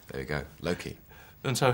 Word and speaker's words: Loki: want to get clear how are you pronouncing your character's name Loki Loki because I swear Anthony was saying Loki uh well well he's well so maybe he maybe that's I think he says Loki Loki like that in his deep gravitas sincere way yeah there we go Loki